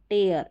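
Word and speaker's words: tear: नीचे भी दे रखा है इसको, टे अ र, टेयर, इस तरीके से। तो यहाँ पर उच्चारण है ए अ, क्या है ई ए का ए अ।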